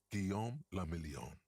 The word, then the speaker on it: Guillaume Lamillion: Guillaume Lamillion. If it doesn't rhyme, you're not pronouncing it right.